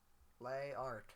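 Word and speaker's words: les arts: art known they are lay art you don't pronounce the S it's just there and makes it confusing when you do when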